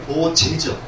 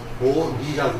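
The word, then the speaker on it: 菩提: 굉장히 많이 쓰는 그 용어인데, 이런 용어도 이제 우리가 한문에서는 이게 보제죠. 보제인데 우리가 읽을 때는 이거를 보리라고 읽습니다.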